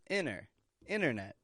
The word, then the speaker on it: internet: the top internet internet if you listen closely today you noticed I wasn't saying internet but inner internet Wii Wii strong in